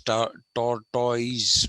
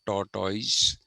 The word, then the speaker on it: tortoise: We in India pronounce this as tortoise, but it is not tortoise. It is tortoise.